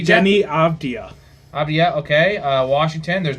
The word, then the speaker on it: Avdija: Avdija? Jenny Avdia.